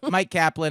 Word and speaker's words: Myq Kaplan: So Mike Kaplan is spelled MyQKaplan at Mike Kaplan on all the places.